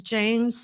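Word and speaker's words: Jeymes: His name is James Samuel, but it's spelled like J E Y Mes.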